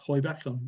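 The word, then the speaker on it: Heubach: have heard about dusk the hoyback test pronounced hoybackline reliably told it was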